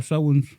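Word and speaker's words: Samhain: Oh yeah, it's pronounced Sowens.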